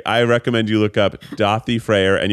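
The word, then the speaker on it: Daði: recommend you look up dothi freyr and you would actually spell it d-a-d-i because it's actually an icelandic letter that we don't have um i think his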